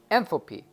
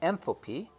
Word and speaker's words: enthalpy: going to define something for this case called enthalpy and I'm gonna define n thil P the word is spelled e n th al P Y the